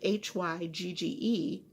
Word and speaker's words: hygge: This is out of a Red Heart yarn called, it's spelled Hygge. It's pronounced hygge, which is a Norwegian or Danish word that basically means cozy, from what I understand.